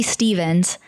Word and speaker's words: Stephens: my last name so my name is Emily Stevens but it's spelled with a pH and they took the